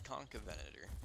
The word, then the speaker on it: Concavenator: uhor I like concavenator it's con it's concavenator is how it's said but I say it's